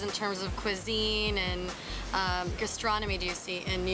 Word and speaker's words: Gastronommy: Is that pronounced correctly? Yeah, Gastronomy. Gastronomy.